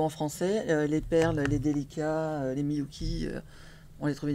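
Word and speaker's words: Delica: Les perles, les délicats, les Miyuki, on les trouvait nulle part.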